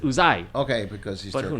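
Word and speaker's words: Uzay: He said he pronounced it Uzai. Okay, because he's But Turkish. who knows? We're in America now. We say Right. fucking Uze, and that's a knockoff line of Star Wars.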